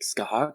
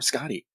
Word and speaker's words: Scathach: and you can and also you can also say it like skahog or scotty it fits all your